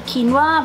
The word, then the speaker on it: quinoa: canadian quinoa or has other people pronounce it as quinoa but then we learned that it's actually quinoa but i don't know